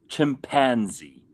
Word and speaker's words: chimpanzee: I was talking to Ben because the word chimpenzee. Yes. Okay. So, Americans go chimpanzee. Yes. Right. They always make a big thing of the pan in the middle. They put the emphasis on that syllable.